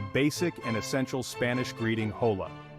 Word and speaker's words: hola: and essential Spanish greeting hola this simple word pronounced Ola is your key to